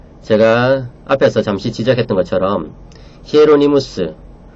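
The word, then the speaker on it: Hieronymus: 구속언약 교리는 제가 앞에서 잠시 지적했던 것처럼 히에로니무스, 교부 제롬이라고 영어로는 읽죠. 그 원음은 라틴어 원음은 히에로니무스라고 읽는 것이 좋습니다.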